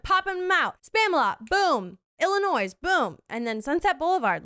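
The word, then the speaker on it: Illinoise: And by the way, guys, it is spelled out like Illinois. But I've seen that is actually still pronounced Illinois.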